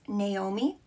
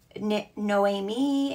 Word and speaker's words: Naomi: Now, a lot of people pronounce my name wrong, and it's pronounced Naomi, but a lot of people pronounce it like Noemi and Naomi, different pronounces like that.